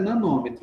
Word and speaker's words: nanômetro: A pronúncia correta é nanômetro.